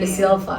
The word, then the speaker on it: De Silva: Cynthia De Silva kali ya Ya bacanya. The Silva ya harusnya.